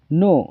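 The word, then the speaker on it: know: नो नो का मतलब होता है जानना। इसमें भी के साइलेंट होता है हमेशा।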